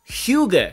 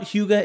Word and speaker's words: Hygge: it's all based on a Danish word that does not sound like the way that it's spelt. If you are a design super fan like myself, and you keep seeing this word pop up all over Google and Pinterest, it's pronounced Hygge, I think.